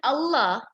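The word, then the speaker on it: الله: observed in the Quran, Allah's name there is lam, but we do not pronounce it in tarqiq. Lam is a tarqiq letter. You can see in my screen, lam comes under tarqiq letters. So, but in Allah, Allah, so it's a tafkhim letter.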